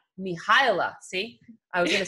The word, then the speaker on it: Mihaela: And I don't want to pronounce her name incorrectly because it is not, is it Mihaela? How do you pronounce it in your language? Mihaela. Mihaela.